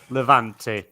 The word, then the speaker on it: Levante: I can never pronounce the name. Is it Levante? Eva Levante. Levante.